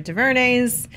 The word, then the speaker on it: DuVernay: First of all, I'm such a fan of Ava DuVernay's as a director, so I believe in her and her ability to execute a vision.